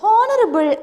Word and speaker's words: honorable: And then, in the words honorable and honor. In the case, honorable and honor. Honorable and honor. Here, two words are here. The consonant H is silent.